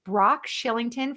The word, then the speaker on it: Brock Shillington: like to know more about his brand, it's Brock Shillington. For those of you listening on the podcast, I'll spell that out. It's BROCK SHILLINGTON.